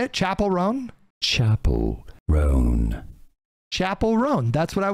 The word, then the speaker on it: Chappell Roan: And then we have these stunning and brave people like Chappell Roan coming forward and being upset about government and then posting about it on the internet.